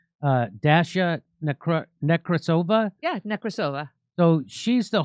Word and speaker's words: Dasha Nekrasova: Dasha Nekrasova.